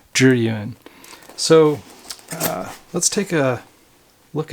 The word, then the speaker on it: Zhiyun: uh thus the name juryun a lot of people on the internet will say zillion or some weird weird uh pronunciation of it it's actually jeruin so let's take a